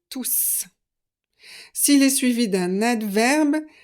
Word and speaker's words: tous: avec le nom et vous ne prononcez pas le S de tout s'il est seul dans son groupe c'est un pronom donc vous accordez et vous prononcez le S de tous s'il est suivi d'un